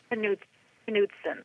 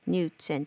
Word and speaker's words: Knudsen: It's pronounced Knudsen. Knudsen.